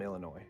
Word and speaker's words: Illinois: Now, I'm from Illinois, and I know that I'm pronouncing Illinois, but look, there's an E here.